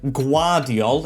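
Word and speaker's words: Gvardiol: Gavardiol, or now I've learned after watching England, it's pronounced Guardiol in his nicknames, like the second Pep or something like that, is now in our defence.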